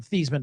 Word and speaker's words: Theismann: He pronounced his name 2 different ways. I mean, he went from Theismann to Theismann.